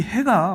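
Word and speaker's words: ה: 이 해가 뭘 본따서 만들었냐면 광야에서 양치는 목자들의 텐트를 본따서 만든 글자라고 합니다.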